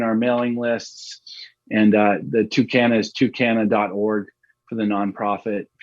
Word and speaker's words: TuCanna: Tucana, like Spanish. Tucana, yeah.